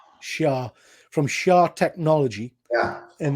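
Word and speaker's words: Shi'ar: So, and again, Ben, correct us if I'm wrong, but I think the Danger Room was from, is it Shy? How do you pronounce that? Shah.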